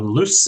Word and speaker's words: loose: got loose and lose notice the difference in the pronunciation of s here and the first one loose is a s sound loose and the second lose the z sound lose loose and lose so